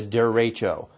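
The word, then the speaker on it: derecho: for the storm or the way that you say that was a der racho that's how you say it's i believe it's a spanish term for that kind of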